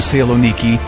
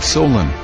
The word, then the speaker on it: Saloniki: It is that Saloniki, not Solen.